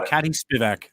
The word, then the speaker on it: Arkady Spivak: And you could make sure I don't pronounce Arkadi's name, so I don't mess it up. You got Arkady Spivak.